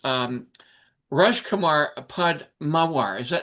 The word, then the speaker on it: Rajkumar Padmawar: Our guest, of course, is Rajkumar Padmawar. Did I pronounce that correctly?